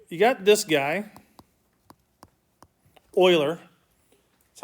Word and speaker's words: Euler: All right, you got this guy, Euler. That's how he pronounces his name.